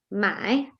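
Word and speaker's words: 买: in the first my there is third tone so it will be pronounced as my my then it means to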